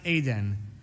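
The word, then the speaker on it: עדן: But Ayin Daled Nun is pronounced Aden.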